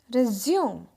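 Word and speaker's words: résumé: या इसका एक मतलब है संक्षिप्त विवरण, जैसे आप जॉब के लिए देते हो, लेकिन वहाँ पे रिज्यूम को रिज्यूमे प्रोनाउंस किया जाता है।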